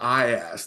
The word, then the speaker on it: IAST: And I always got to make sure that I pronounce that T as well. So the IAST, man, we are super excited about this tool.